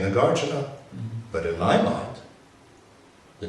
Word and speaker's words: Nagarjuna: understand that they're saying nagarjuna but in my mind the name the sound of that name is represented by The Gardener the accent is on the second syllable not the third syllable do you follow yeah